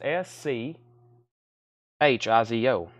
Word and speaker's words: Schizo: syo perhaps how do you say that it's s c h i z o it's an original one sheet horror movie from 1976 and because of the schizo schito okay schizo like schizophrenia schizo $20 $20 so what's happened is it's got